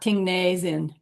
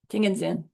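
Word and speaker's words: ཏིང་ངེ་འཛིན: Here's Ting and Zin, but spelled like this, said like this. It sounds like Ting and Zin, not Ting Ne Zin. Ting and Zin.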